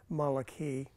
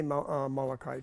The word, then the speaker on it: Malachi: it's uh if you look the the vowels it's actually Maliki um but you can say Maliki too it means my messenger